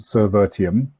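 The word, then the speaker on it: Servirtium: uh with friends and it's pronounced cervertium um service virtualization ium from you know a renamed selenium selenium so i figured i'd borrow the rum again um and put it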